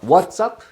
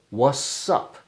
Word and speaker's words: what's up: So we would pronounce this as what's up or what's up. What's up. Without the T sound.